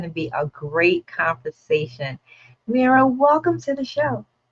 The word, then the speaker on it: Mirah: I am so thrilled to have with us Myra Young. Am I pronouncing your first name right? Mera like mirror mirror on the wall.